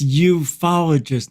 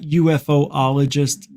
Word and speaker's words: ufologist: Dr Stephen Greer welcome it's ufologist not UFO ologist that's apologist don't have a syllable unidentified flying the study